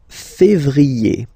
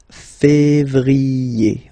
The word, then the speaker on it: février: Then comes février, février. Okay, remember when you have this accent aigu on the top of then you pronounce it E, okay?